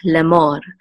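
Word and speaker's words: לֵאמֹר: together the sere says so this is le, and this is a mem with a cholem, which is mo, and the resh is the part of that syllable, so it's mor, lemor.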